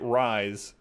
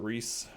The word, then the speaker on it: Rhys: we're good be wrists I guess most people pronounce it Reese it's when appear Adam